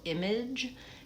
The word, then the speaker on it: image: So, image has the J sound at the end.